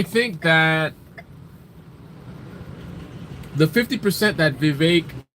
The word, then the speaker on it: Vivek: that the 50 that Vivek rhymes with cake is definitely what I